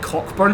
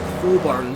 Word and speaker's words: Cockburn: I do apologise, in my Edinburgh video that I made, the vlog, I actually said it Cockburn Street, but someone actually corrected us in the comments saying it's actually pronounced Coburn, so I do apologise about that.